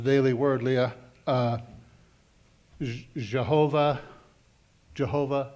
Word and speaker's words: Jehovah: And she talked about in the Daily Word, Leah, uh, Jehovah, Jehovah Shalom or Yhovah. They didn't pronounce the J's back in the day.